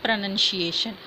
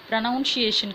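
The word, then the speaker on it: pronunciation: அதனுடைய உச்சரிப்பு அப்படின்னா இட்ஸ் ப்ரனன்சியேஷன். ப்ரனவுன்சியேஷன் கிடையாது, ப்ரனன்சியேஷன். ஓகே, என்யூஎன் தான்.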